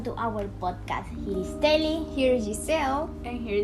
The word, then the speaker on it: Tely: My name is Tely. It's spelled T-E-L-Y.